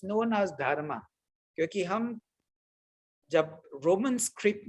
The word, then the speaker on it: dharma: So they don't know which one is silent and where the A is silent and where the A is to be pronounced.